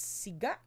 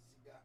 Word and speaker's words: siga: Hubby says it's siga. Yes, siga. Yeah, it's siga.